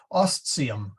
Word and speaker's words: ostium: uh the T okay the ti is a okay like 10 top okay okay I just wasn't sure if having the S right in front of it would change that no real well actually it makes it a very nice sound osteum okay oh man wait